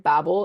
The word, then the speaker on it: Babel: But Babel is the British pronunciation and Babel is the American Yeah.